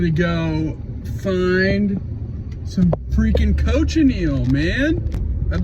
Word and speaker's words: cochineal: might have been saying coachin I think it's coach anal I I looked up the how to say it and that's what it said the world's biggest prickly